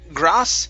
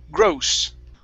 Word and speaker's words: gross: uh this word here instead of grass it's grow gross grow good good and uh